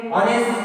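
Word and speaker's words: honest: ऑनेस्ट क्या बोलेंगे इसको अपन, ऑनेस्ट बोलेंगे इसको ऑनेस्ट करके, तो ऑनेस्ट फॉर एग्जांपल और, तो इस जगह पर देखो कि यस जो इस जगह पर, यस क्या इस जगह पर कंसोनेंट है, लेकिन उच्चारण में क्या हो रहा है इस जगह पर, तो अ का उच्चारण हो रहा है इस जगह पर, राइट।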